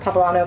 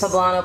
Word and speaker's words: poblano: i have pleb how do you say that papalano peppers poblano peppers thank you very much and this is